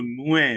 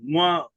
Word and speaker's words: moi: हमने okay nasal sound, तो इसको मुए बोलते हैं। मुआ में जो स्पेलिंग होती है मी के लिए, वो होता है एम ओ आई।